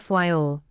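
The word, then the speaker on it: Fayal: of the group file the people that pronounce at FY all and put the accent on the first syllable we anchored in the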